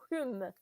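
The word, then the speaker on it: Home: Non, Hume, oui, ça se prononce Hume, qui était très populaire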